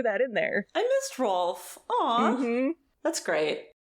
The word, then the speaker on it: Rolf: I missed Rolf. Aw. Mm-hmm. That's great. The subtitles on Apple TV say Ralph, They do. like spelled like Ralph Wiggums, but like it's definitely supposed to be Rolf.